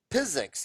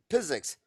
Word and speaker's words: Piziks: interviewing incredible dentists physics it's it's a physics with a p uh right you pronounce it physics and you tell me